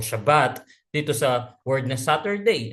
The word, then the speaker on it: Shabbat: Sabi po ng pag-aaral, the word the word Shabbat, ano po, sa Hebrew, ang pagkaka-pronounce po nito ay Shabbat, ano po.